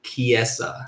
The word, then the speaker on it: Chiesa: Josh, how are you saying Michael's last name so I can write it out phonetically? Michael Chiesa.